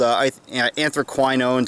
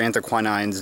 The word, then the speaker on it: anthraquinones: Now, these are plants that contain a constituent called anthraquinones or anthraquinines, depending upon who you're talking to in pronunciation.